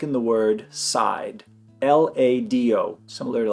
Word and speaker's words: lado: So for beginners, the way I would recommend to pronounce this D between two vowels is like the TH in mother, father, they, this. This is the voiced TH in English. It's when you put your tongue out and you vibrate. I would start off that way. So L-A-D-O would be lado, lado.